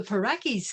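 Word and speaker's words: Pauraque: And at dusk, the Parakis come out. We'll try to pick them up tonight in Rio Grande City. With a name like Paraki, which rhymes with Yaki, I looked forward to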